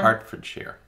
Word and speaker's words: Hertfordshire: Hertfordshire. But it's H-E-R. But it's Hart. And that's in England.